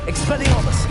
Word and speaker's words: Expelliarmus: Expelliarmus!